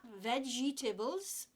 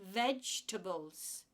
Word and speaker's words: vegetables: so these are vegetables they're not vegetables they're vegetables the word is vegetable you try vegetable in